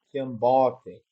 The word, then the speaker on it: Kiambote: Acento tônico aí fica no bo. Kiambote.